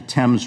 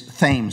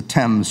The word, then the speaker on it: Thames: into the thames river it's actually the thames river but i know for